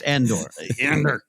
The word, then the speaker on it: Andor: he's casting ender like we're already not pronouncing the names correctly like he's going to be it's andor um loved everything about